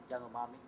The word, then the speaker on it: Yanomami: Yanomami.